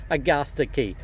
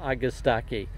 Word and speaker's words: Agastache: nurseries in Oregon now these are August Aki's or if you come from New Mexico or Colorado you'll probably pronounce it AG a sticky but since we're talking about this region I'm going to use the pronunciation of August aqui poquito means little or